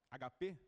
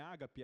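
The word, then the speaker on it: ἀγάπη: e ele começa então amor HP não é Ágape é HP Porque acento tá na última sílaba ele diz que o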